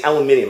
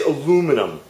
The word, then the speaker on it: aluminum: I can't say aluminium. I gotta say aluminum. Aloom. A-L-O-O-M. Loom. Min. M-I-N-U-M. Aluminum. Right, we say it wrong. Aluminium. No, it's aluminum.